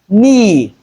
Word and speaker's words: knee: Then in this particular grapheme, that is Kn, the K is silent. Hence, we're left with what? In words like knee, look at the transcription. We don't have the K sound there.